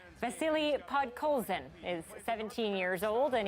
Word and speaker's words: Podkolzin: Petersburg of the KHL, Vasily Podstrophe. Okay, so a bit of a mispronunciation there from Canucks legend Stan Smil. Vasily Podkolzin is 17 years old,